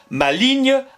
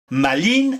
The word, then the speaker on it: maligne: Dictionnaire des rimes françaises fait rimer bénigne maligne avec signe c'est bien ce que je disais ouais mais un peu plus loin il nous explique que l'on peut ôter le g de la prononciation et il fait R maline avec angine il n'y a pas